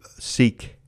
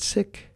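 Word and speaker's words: Sikh: woman named Valerie car a sick woman who seek but they pronounce it sick so that was something I learned when I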